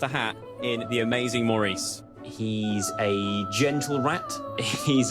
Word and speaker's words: Maurice: how many times it's Maurice Maurice how do you pronounce Maurice you pronounce Maurice like this you do not pronounce it Morris Maurice is a intellectual